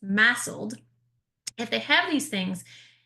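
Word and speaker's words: MASLD: they have fatty liver, now actually I need to change the acronym. It's now pronounced massled.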